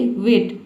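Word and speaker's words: weight: तो ये बात आपको याद रखना है कि जी एच टी एक साथ आ जाता है। तो इसमें हम जी एच को साइलेंट रखते हैं। टी को पढ़ते हैं। तो टी का ट हो जाएगा। जी एच साइलेंट हो गया।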